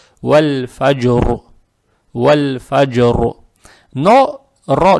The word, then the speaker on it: والفجر: Потому что когда РО с сукуном, перед ней тоже с сукуном, а перед ней фатха, РО читается твердо. Вальфаджр.